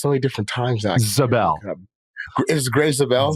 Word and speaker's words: Zabel: Uh I' I've heard his name pronounced so many different times actually. Zabel is Greg Zabel. Zabel. Yep. Zabel from North Dakota State.